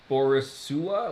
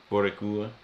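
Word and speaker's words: Boricua: On the list of things that you mispronounced, uh, Guido is still beneath Borisua. What? Wait, did he say Borisua? How do you say? Guess what he was trying to say? Borica.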